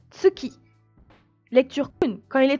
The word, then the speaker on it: 月: Donc la lune se prononce Tsuki.